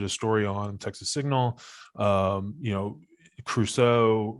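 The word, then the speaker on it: Creuzot: Crusoe, right? Is that how you say his name? Yeah, John right? Crusoe.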